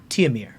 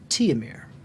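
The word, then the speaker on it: Tihomir: h o m i r h h-o-m-i-r t-i-h-o-m-i-r teomir t-homir t-ho-mir i spelled tears pronounced teomir okay but written t homer siv sieve s-i-v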